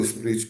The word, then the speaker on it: split: Então, aí ele preparou o ambiente lá para o split payment que vai, pronuncia o T, tá?